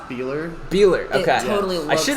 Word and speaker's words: Boehler: looking across our table here i'm seeing it's boulder right that's that's how you pronounce it how do you say it it's actually pronounced beeler beeler okay totally i should have asked you